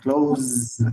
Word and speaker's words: close: Close. La Z. Tiene que hacer sonido de la Z, si no, no sale.